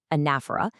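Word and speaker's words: anaphora: Specifically, anafera that is pronounced anafa, which is repeating a word or phrase to really drive a point home.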